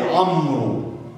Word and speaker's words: عمرو: عندي الواو برضه كمان، لسه في واو؟ اه لسه في واو. برضه من ضمن الحروف التي تكتب ولا تنطق. زي كلمة إيه؟ عمرو.